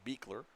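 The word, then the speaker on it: Bichler: a the third baseman beer spells it b i c h l r pronounced beer and here's the 3-2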